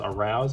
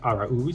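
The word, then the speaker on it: Jonathan Araúz: a marlin jonathan aruz probably a lot of people mispronouncing his name as aroused it is in fact our ooze he's on my local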